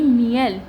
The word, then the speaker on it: miel: तो MI हो गया हमारा मी, फिर IE है तो ई है मी है, और फिर L है तो इसकी प्रोनाउंसिएशन हो गई मियल।